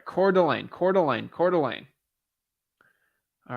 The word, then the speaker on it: Coeur d'Alene: research how to say it the right way core Delane Coeur d'Alene got it okay got it all right Coeur d'Alene Coeur d'Alene Coeur d'Alene all right sounds good